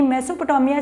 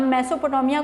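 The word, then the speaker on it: Mesopotamia: तो प्रोनाउंस दो तरह से भी करते हैं, कुछ लोग इसको मेसो, कुछ लोग इसको मीसो, तो दो तरह से इसको पढ़ते हैं।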